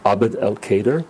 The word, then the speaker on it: Abd el-Kader: Abd el-Kader.